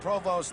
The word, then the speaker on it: Provost: passed by Koozie and for those of you who may be wondering about the pronunciation of Ted provost's name it is a French name initially from Canada Provost an American boy who went to Ohio State prefers to be called that way on Third and 20